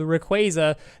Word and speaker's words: Rayquaza: When the official Pokemon released digital Pokedex tells you it's called Rayquaza, that's what its freaking name is, Rayquaza.